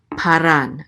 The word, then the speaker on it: Paran: with a kamat so this is PA and this alef will go with it okay it's part of the syllable PA and then we have a Resh right here with a comment so this is RA and this is a noon Sophie so this is ran Paran and the accent mark